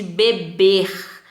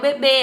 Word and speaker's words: bebê: Já esse beber com acento circunflexo é o bebê, a criancinha. Então, a primeira pronúncia é bebe, a segunda pronúncia com acento circunflexo, bebê.